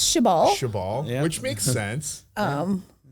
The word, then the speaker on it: Shibal: Shibal is Korean for like fuck shit.